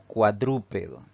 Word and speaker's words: cuadrúpedo: siempre tenemos la palabra cuadrúpedo si dividimos en sílabas esta palabra tiene cuatro sílabas al pronunciarla la mayor fuerza de vos va a caer en la antepenúltima sílaba contando derecha e izquierda